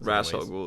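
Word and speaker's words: Ra's al Ghul: with the Lazarus Pit rasal goul depending on how you pronounce it if you want pronounce it like an there's other ways but rasal goul is the cool way to do it he's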